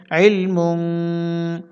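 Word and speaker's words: عِلْم: আইল মিম দুই পেশমুন ইলমুন এখানে ওয়ফে চিহ্ন দেওয়া আছে আমরা এখানে ওয়াকফু করব ওকফু করলে মিম সাকিন হবে উচ্চারণ হবে ইলম আবার বলছি খেয়াল করবেন ইলম অর্থাৎ লাম ও সাকিন হচ্ছে মিম ও সাকিন হচ্ছে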